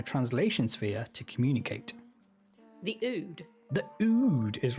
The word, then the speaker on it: Ood: The Ood. The Ood is right. I wasn't sure how to pronounce that, but I'm glad you nailed it. It's not Ood.